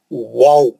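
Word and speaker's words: و: वाओ होठों को खींचना सामने की तरफ और गोल रखना उसको बिल्कुल और पढ़ना वाओ वाओ बहुत अच्छा वाव आता है। वो सही प्रोनाउंसिएशन है वाओ का।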